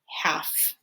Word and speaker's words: half: a silent letter is when the letters l and f are together okay we're going to hear the f sound but not the o like in the word half ah silent l oh and then we